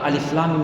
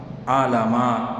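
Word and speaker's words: الم: Teman bukan alif lam mim. N baca alama.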